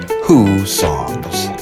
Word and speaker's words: Hussong's: first opened in 1892 and yes it is pronounced who songs and in just one moment we'll return to those thrilling days of yesteryear as a beach reporter meets that mexican icon who songs cantina but first if you like give me